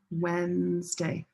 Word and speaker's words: Wednesday: Wednesday, red pepper. Wednesday. Two syllables.